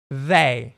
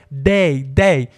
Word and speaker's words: they: Aqui no Brasil, olha que interessante, a gente pronuncia esse th como um d, né? Na escola, geralmente eles ensinam a gente isso como um a pronúncia, a mesma pronúncia um d. day.